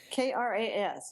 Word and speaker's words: Kras: I would say Cross. Yeah. Okay, you're probably right. Kras, right? Yep, that's the one.